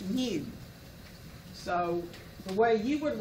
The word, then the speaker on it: mu: And that m stands for mean, and it's pronounced mu.